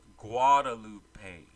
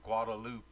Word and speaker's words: Guadalupe: they don't know that the GU makes a whoa sound like power you don't say agua so they would call me Guadalupe or Guadalupe B but what's funny